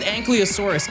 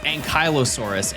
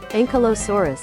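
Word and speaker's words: Ankylosaurus: Okay, so I I we've had this conversation before, believe it or not, and I said Ankliosaurus, and people said, "No, John, that's not how you pronounce it. It's Ankyosaurus."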